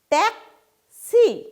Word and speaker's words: ট্যাক্সি: ঠিক একইভাবে ট্যাক্সি কথাটাতেও আমরা বলবো কি, প্রথমে বলবো ট্যাক্সি, তাহলে কটা আগে উচ্চারণ হবে, তারপরে শটা উচ্চারণ হবে।